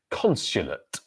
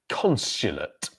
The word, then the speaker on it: consulate: Consulate. Consulate. So stress syllable, first one, consulate. Consulate.